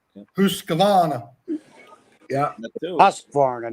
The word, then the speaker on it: Husqvarna: They actually tell you how to pronounce it. Yeah. Husqvarna. Yeah. That too. Husqvarna, not Hoos.